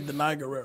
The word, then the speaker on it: Danai Gurira: You said, pronounce her name. I'm going to say Danai Gurira.